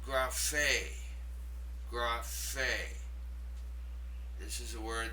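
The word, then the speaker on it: γραφή: The third word is pronounced graphe.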